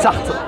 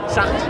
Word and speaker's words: Sarthe: Sarthe. Sarthe. Ouais. C'est comme Jean-Paul Sartre. Non, c'est pas comme Jean-Paul Sartre. Jean-Paul Sartre. T'enlèves le R de la fin, en fait.